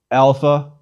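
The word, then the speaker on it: ἄλφα: our own letter a it is always pronounced when long like the a in father or when short more like ah it is never ever pronounced like the a in cake or the a in cat please repeat alpha ah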